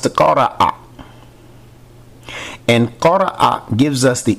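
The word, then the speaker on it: قرأ: The verb from which ikra derives or is derived is pronounced qara'a.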